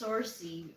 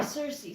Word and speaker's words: Cersei: how do you say I always say it's sourcey which is not her name what did you think of is it sorces Cersei running in um Thursday yeah Cersei Cersei Cersei um and Little Women